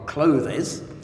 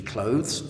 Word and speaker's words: clothes: Uh and of course, there's a big difference between pronunciation, for example, clothe-is. It should be clothes, as you and I both know.